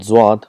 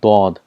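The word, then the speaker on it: ضاد: For example, for Zwad, in Urdu it's called Zwad, but in Arabic it's called Dod. There's a lot of difference between Zad and Dod.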